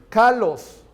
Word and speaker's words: kalos: Esa palabra buena es una palabra griega que se pronuncia kalos.